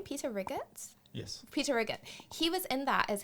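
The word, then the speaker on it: Peter Riegert: Peter Riggett.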